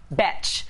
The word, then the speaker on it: Betch: want to be a bch which rhymes with fetch not to be confused